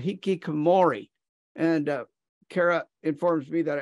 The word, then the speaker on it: hikikomori: In Japan, they even have a name for it called hikikomori. And Kara informs me that I almost get the pronunciation right. Oh, you got it. So hikikomori.